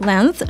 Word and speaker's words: length: Здесь мы наблюдаем такое существительное, как length, что переводится как длина. Не забываем про правило произношения буквосочетания th, когда мы высовываем язычок наружу.